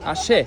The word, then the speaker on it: axé: música de aquí típica se llama asé se escribe se escribe como axé y el candomble un